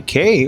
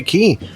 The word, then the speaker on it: Cay: Welcome here to Castaway K or Castaway Key, whichever way you want to mention it. I guess it depends where you're coming from and just what kind of pronunciation you like on it.